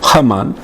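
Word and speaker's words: Haman: Pero Hamán, le ponen en judío, en hebreo H, Hamán, primer ministro, sintió odio.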